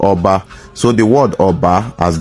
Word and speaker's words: Oba: Oba as a title has been mispronounced by so many